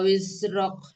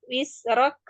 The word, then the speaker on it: wizrok: Wa wada'na angka wizrok. Nanti latihan supaya pengucapan huruf zai tidak menyerupai sin ya. Bukan wisrok tapi wizrok gitu ya.